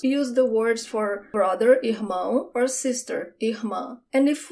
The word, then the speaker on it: irmã: Sister, irmã. The emphasis is at the end.